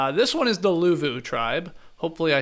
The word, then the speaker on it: Luvu: This one is the Luvu tribe.